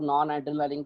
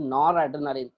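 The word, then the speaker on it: noradrenaline: हम लोग पहले प्रोनाउंसिएशन में क्या बोलते हैं, this is नॉन, इट इज नॉट नॉन, इट इज नॉर एड्रेनालिन, nitrogen without CH3।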